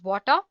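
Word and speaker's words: Watir: tool spelled w a r and it is pronounced as water it's an open- Source testing tool made up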